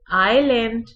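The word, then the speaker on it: island: इसमें आयल में और आइलैंड में एस साइलेंट है, एस की आवाज बिल्कुल नहीं निकलती, बिल्कुल एस ऐसे ही पढ़ा जाता है जैसे स्पेलिंग में एस मौजूद ही नहीं है।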